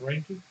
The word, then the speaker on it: rangy: It's a word pronounced rangy.